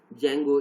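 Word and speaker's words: Django: data management में जेंगो, इसको डी को साइलेंट पढ़ते हैं, जेंगो, मिनिमल जेंगो बेस्ड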